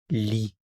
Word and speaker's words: lit: Il, elle, on lit, lit. Notice these three are pronounced the same. Lit, lit, lit.